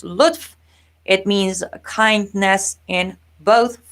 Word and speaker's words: lutf: freedom however by itself as an individual word pronounced luth it means kindness in both farsi and arabic